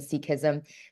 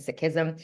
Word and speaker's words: Sikhism: And when I say Sikhism, a lot of us pronounce it as Sikh and Sikhism. That's the colonized pronunciation. As we learn to decolonize language, it's actually Sikh and Sikhism.